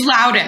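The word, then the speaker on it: Loudoun: farther yeah yeah and I didn't say it right but it's it's Louden right it's Louden County yes you Prince William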